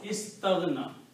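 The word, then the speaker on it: استغنى: Okay, it becomes istaghna. When you pronounce this together, istaghna.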